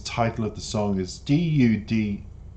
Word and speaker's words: duduk: But this word down here that is the title of the song is D-U-D-U-K, which if I was to pronounce it, I would say Duduk.